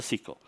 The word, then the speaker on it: SYCL: It's SYCL, like, you know, the round, curvy things.